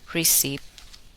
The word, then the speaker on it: receipt: The letter P is silent, not pronounced. In the following words, listen and repeat each word after the speaker. Receipt, psychology, pneumonia, corpse, raspberry, cupboard, sapphire.